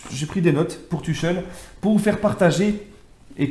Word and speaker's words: Tuchel: seront là à savoir Thomas tchel ou tuel hein pour les ceux qui veulent le prononcer à l'allemande hein la la la Dutch qualitat comme on dit moi personnellement les amis je vais la prononcer le prononcer à la française voilà t hein qu'on on m'a déjà repris plusieurs fois dans mes directs dans mes vidéos donc moi je dis tchel maintenant libre à vous